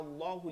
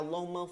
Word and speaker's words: আল্লাহ: এরপর হচ্ছে যেমন আমরা যদি যাই, সামি আল্লাহু লিমান হামিদা, হামিদা না কিন্তু হামিদা, হামদুন প্রশংসা, হামিদা, সামি আল্লাহু লিমান হামিদা, সামি আল্লাহ, আল্লাহ শব্দটা মোটা করতে হবে, সামি আল্লাহু লিমান হামিদা।